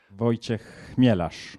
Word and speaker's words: Wojciech Chmielarz: Wojciech Chmielarz. Voilà. Correctement prononcé.